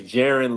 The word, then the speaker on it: Jaron: all, I want to I want to actually tell y'all how to pronounce my name because a lot of people get it mixed up a lot. It's been happen to me since I was born, bro. Um, my name is Jiren.